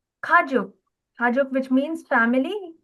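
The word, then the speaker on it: 가족: Okay, last kajuk kajuk which means family. Correct. Ka and then j with a o sound and then a k sound. Kajuk kajuk which is family.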